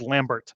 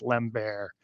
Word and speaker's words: Lambert: shock Lambert um and it's spelled Lambert so that's what I really want to say but it's Lem bear um so he used